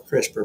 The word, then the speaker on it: CRISPR: space short palindromic repeats or crisper pronounced like your vegetable door uh crisper popped up